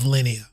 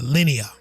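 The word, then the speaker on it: Linea: So, and I love Lineia. Line uh Lineia, I'm sorry. JT always gets uh laughs at me because I always pronounce that wrong.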